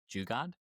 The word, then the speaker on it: Jugaad: I'm probably going to mispronounce it. Jugaad?